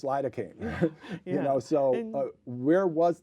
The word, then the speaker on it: lidocaine: S because you know leaine is not how you pronounce lidocaine you know so where